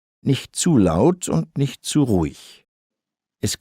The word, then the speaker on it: laut: And I also underlined laut, that ow sound.